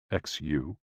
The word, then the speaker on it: xu: the six sounds are xu pronounced like shh with a deep sigh which is associated with